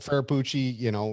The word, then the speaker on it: Ferrucci: But yeah, I mean, I pronounce his name a little bit differently. I go with Santino Ferrucci, but Ferrapucci, it's just fine.